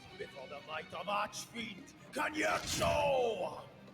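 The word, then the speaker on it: Cagnazzo: Wait, that's how it's been pronounced all this time? Ever since Final Fantasy IV, I've been calling him Cognazo. You mean I've been getting it wrong for these almost 30 years?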